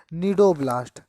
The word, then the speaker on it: cnidoblast: निडोब्लास्ट, जिसका दूसरा नाम होता है स्टिंगिंग सेल। क्या बोलते हैं बेटा? Stinging cell. निडोब्लास्ट की स्पेलिंग भी सी से ही स्टार्ट होती है, CNIDOBLAST।